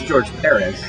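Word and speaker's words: George Pérez: George Perez? What did people say to George Perez? It's George Perez. Accent on the first.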